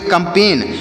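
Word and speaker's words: campaign: ए आई जी एन तो इसे क्या पढ़ेंगे सी ओ एम से पढ़ेंगे कम सीओ एम से कम पी ए आई से पे पढ़ेंगे जी यहां पर साइलेंट है और एन को पढ़ेंगे नो इससे पढ़ेंगे कंपेन और कंपेन मतलब क्या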